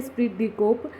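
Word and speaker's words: esprit de corps: इसके अंदर साइलेंट है, स्प्रिट डी कोप।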